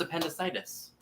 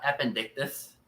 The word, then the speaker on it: appendicitis: appendicitis no it's not it's pronounced appendicitis not appendicus but it has a